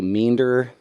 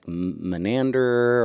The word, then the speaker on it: Meander: Most people say meander. A lot of people would say menander or Menander. That's right. Stutter through some variation of a mispronounced version of meander.